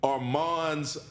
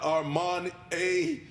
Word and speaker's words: Arman: say it right to arman's Auntie and his cousin Ashley they caught me after the game they said his name is Arman not Armani not Arman a it is Arman Harris and I apologize